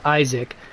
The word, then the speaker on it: Isaac: uh sacrifice his son Isaak I think I know you guys are going to say Isa Isaac I'm pronouncing its original um Aramaic pronunciation bite me but uh